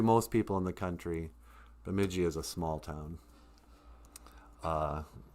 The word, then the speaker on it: Bemidji: they'll call it um bemidji they garble it a lot because it looks weird um but the correct pronunciation of bemidji is bay like the bay of a lake um even though it's